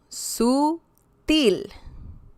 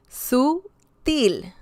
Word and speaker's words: sutil: Sutil. Once again, we can hear some stress on the last syllable. Sutil. Sutil. It's not sutil, it's sutil. Sutil.